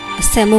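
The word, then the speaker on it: Tsemo: Google किया तो पता चला कि वो एक कैसल है, सेमो कैसल। इसमें टी साइलेंट है, जो शायद 16th सेंचुरी में बनाया गया था मिस्टर ताशी नामग्याल के राज में।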